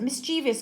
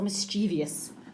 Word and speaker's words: mischievous: great word it considered pronounce it mischievous or mischievious both will suffice I'm gonna put that